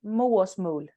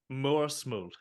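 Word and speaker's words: Mørsmål: love to, but however, you are absolutely gonna have to tell me how to pronounce that. Oh yeah. So the title of the EP is Moersmål. Moersmål. Yeah, Moersmål.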